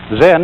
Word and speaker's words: Zen: Zen, of course, is a Japanese word, and it's spelled Z-E-N. And that is the Japanese way of pronouncing the Chinese word Chan.